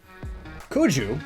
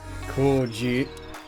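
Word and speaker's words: Cuju: Kuju, which I've been mispronouncing this entire time, Kuji is a bit closer, it was similar to football.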